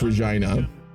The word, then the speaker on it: Regina: honestly I would still say that Regina is pronounced Regina that's how the majority people from the city